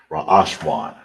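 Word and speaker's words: ראשון: You say first in Hebrew is ra'ashwan. Ra'ashwan. That's how you say first in Hebrew.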